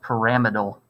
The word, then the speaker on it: pyramidal: planar this is tetrahedral it's actually pronounced pyramidal which is a tongue twister but if you want